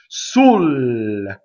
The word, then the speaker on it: sul: Next word, sul, double L. So how we do double L is we phonate on the L and we linger on it.